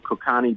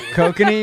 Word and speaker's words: Kokanee: We got some Kokani beer. Oh, Kokanee? Kokanee, you mean? Kokani, whatever. I don't know. Is that how you pronounce it? Yeah, kokanee.